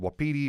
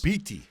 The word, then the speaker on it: wapiti: Is it wapiti or wapiti? I follow a lot of Native Americans on TikTok, and they pronounce it with the distinct wapiti. So I like wapiti, but do you call it wapiti?